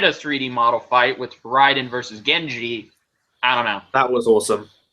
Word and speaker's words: Raiden: I've had people complain to me about how you pronounce Raiden and Raiden. Because they're both Raiden spelled the same. Raiden Spelled the same name, but you originally- pronounce it no. differently. Raiden had a Y in it originally. Yeah, originally. Then he changed it to an I.